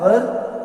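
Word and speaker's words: were: इसकी helping verb क्या है, वाज, वर, और वर्ब के साथ आईएनजी लगता है। इसका प्रोनाउंसिएशन वर्ब होता है, वेयर नहीं होता, वर होता है। वेयर तो WHER को वेयर कहते हैं।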